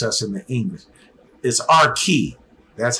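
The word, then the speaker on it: Archite: in the English is our key that's how it's pronounced and the other is how it is pronounced the H sound has that hard K to it so David's friend was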